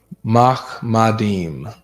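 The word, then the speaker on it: מחמדים: Mahmadim is how to say it in the Hebrew.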